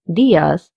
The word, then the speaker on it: días: This word, días, has an accent on the I. This means we have to stress on this I, so we say días instead of días.